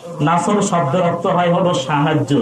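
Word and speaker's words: نصر: আর আপনি বলেন ইযা জাআ নাসরুল্লাহি ওয়াল ফাত, সদের জায়গাতে আপনি সিন উচ্চারণ করেন। যেরকম তো কি উচ্চারণ করেন? নুন সিন র।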